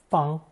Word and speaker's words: 方: This will be the sixth and final installment of characters taking first tone fang as either a phonetic or semantic element.